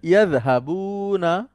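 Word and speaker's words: يذهبون: আচ্ছা, এই জালটাকে একটু নরম করে বলতে হবে, এখন যেহেতু একটু সিনিয়র হয়ে গেছেন, এখন জি, মাঝে জি।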